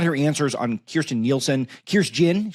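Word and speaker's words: Kirstjen: Um I thought her answers on Kirsten Nielsen, Kirst Jyn, she did pronounce the J.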